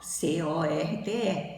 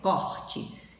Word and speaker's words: corte: Na primeira, o O da sílaba tônica é com som aberto, corte, que é o ato de cortar, tirar um pedaço. O segundo exemplo é a corte portuguesa, o O da sílaba tônica é pronunciado com som fechado.